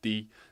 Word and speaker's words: 地: create compound words like these it carries the pronunciation of D and the meaning of earth or ground but